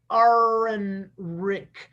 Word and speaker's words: Ehrenreich: By Barbara Ehrenreich.